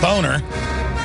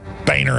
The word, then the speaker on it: Boehner: sell out to the New World Order John boner that's how he pronounce his name we're not going to go under his mind control and call him bainer anymore because he tells us to has gone